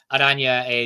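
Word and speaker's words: Oranje: Adanya is orange in Dutch, so it's spelled orange, but you replace the G with a J, Football Adanya. Yeah.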